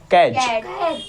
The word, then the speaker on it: catch: और एग्जाम्पल देखते हैं, CATCH क्या हो गया, कैच, कैच हो गया ना, कि टी हमारा साइलेंट हो जाएगा।